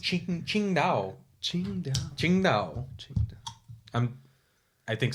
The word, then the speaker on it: Tsingtao: Tsingtao. Qingdao. I think it's actually Chinese. pronounced Qingdao.